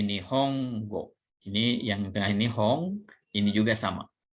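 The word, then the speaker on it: 本: Ini yang tengah ini Hong, ini juga sama.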